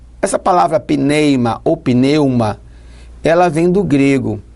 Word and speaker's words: pneuma: é essa no grego ela é pronunciada mais ou menos assim pneimo pneuma ela vem do grego